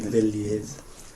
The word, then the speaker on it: viljið: So rather than viljum, it will be viljið, which is, well, if it helps, it rhymes with þið again.